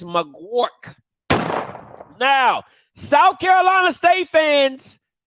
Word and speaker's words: Magouirk: here film breakdown of Kevin mcgork that's how you pronounce that thing okay it's mcwark now South Carolina State